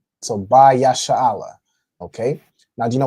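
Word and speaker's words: בישראל: So right here we have Ba Yasha'Allah. All right, so Ba is a word which means in, on, or with. Okay. So in this case, Ba Yasha'Allah would be, you'd use this as on Israel.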